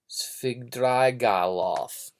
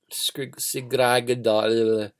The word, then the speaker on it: Svidrigailov: I have a hard time pronouncing his name. Arkady Ivanovich Svidrigailov. Svidrigailov.